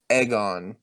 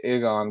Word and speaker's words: Aegon: yeah but I mean it's egg on in the same way that like Emma is Emma not Emma like you know it it even though we might pronounce it in our head differently it does have some lyrical sense they said aegon the